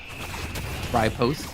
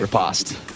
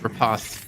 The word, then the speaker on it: riposte: Ripost. Oh my god, I can never say that word right. Riposte. Riposte. Even worse, I said it wrong twice.